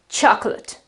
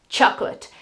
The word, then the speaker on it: chocolate: an so it is chocolate, chocolate. This last part here is schwa and t, and there is no accent.